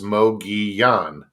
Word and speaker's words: Mogollon: silent it's there there's they're pronounced like the spanish yeah right right so